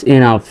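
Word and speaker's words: enough: ফর মত হবে ই এন ও ইউজ এইচ এনাফ উচ্চারণটা হল এনাফ এটার অর্থ হল যথেষ্ট যথেষ্ট ভেরি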